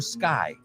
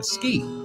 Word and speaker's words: ski: I've heard a lot of Spanish people say, I like to sky. Sky es cielo, ski. O sea, se dice igual, pero no lleva E delante y se escribe S-K-I.